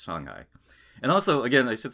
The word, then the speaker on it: Shanghai: these things like, well, you just say it like Shanghai, right? And it's like, yeah, you do, but you don't say Shanghai like that. It's Shanghai.